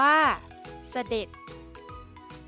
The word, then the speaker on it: เสด็จ: ตัว สะกด แม่ กด ที่ มี จ จาน เป็น ตัว สะกด ออก เสียง เป็น เสียง ด เด็ก ได้ แก่ คำ ว่า ตำรวจ